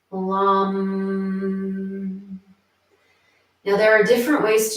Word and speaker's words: LAM: And so what we're going to chant here is the seed syllable LAM, L-A-M, LAM.